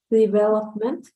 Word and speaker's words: development: I know this word is being pronounced correctly, but just the stress is going to be in a different place, the stress. But how do you read it? Development.